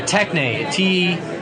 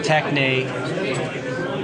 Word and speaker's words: techne: Giving names is an art, an A-R-T, or a techne, T-E-C-H-N-E is how we'd spell it.